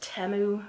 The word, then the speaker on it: Temu: little collaboration with Temu, or I think they're trying to say their name is pronounced Temu recently, but it's probably always going to be Temu to me.